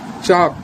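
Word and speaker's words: chalk: Match T silent, rhythm T silent, Depp B silent, चॉक L silent, balm L silent, sign जी silent, Wednesday में D silent, would में L silent और हाफ में L silent.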